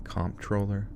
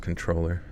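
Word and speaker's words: comptroller: is that a thing comp troller oh it's just controller hm so it's not comp troller it's just pronounced controller wonder if Joel watch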